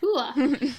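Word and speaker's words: Huath: Hua.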